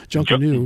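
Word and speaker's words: Junkanoo: to pronounce it either it looks like junka who or junkan new oh it's an N junkan new junkan new it's observed around boxing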